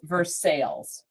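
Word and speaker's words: Versailles: That's why I was like because it wasn't pronounced like the town in the other country.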